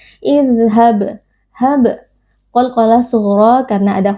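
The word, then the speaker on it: اذهب: Idhab, huruf dzal bersifat rokhawah, beri sedikit aliran suara. Idhab, hab, qalqalah sughra karena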